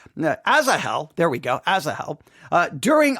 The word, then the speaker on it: Asahel: Asahel, there we go, Asahel, during a battle.